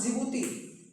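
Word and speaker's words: Djibouti: साथ में अफ्रीका के चार देश इजिप्ट, सूडान, एरिट्रिया और जिबूती। यहां पे डिसाइलेंट होता है। इसको जिबती बोलते हैं।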